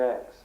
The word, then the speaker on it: Aix: Uh Seaison basically divided his time between Paris and X. X is spelled AIX.